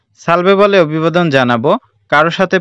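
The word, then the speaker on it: salve: এখানে একটা জিনিস খেয়াল রাখতে হবে, আমরা কিন্তু ছয়ের মতো উচ্চারণ করব না, অর্থাৎ ছায়া, ছাতা এরকম করে উচ্চারণ করব না, আমরা এখানে এর উচ্চারণটা করব দন্তের স্বরের মতো করে, তাহলে আমাদের উচ্চারণে আর কোনো ভুল হবে না।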